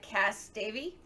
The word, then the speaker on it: Cas Davey: Let me make sure I'm pronouncing your name right. Cass Davey.